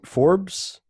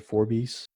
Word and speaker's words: Forbes: that was enough ah it's pronounced for Forbes fo our BES Forbes yeah oh my god man you know many times I said for beasts I should have gotten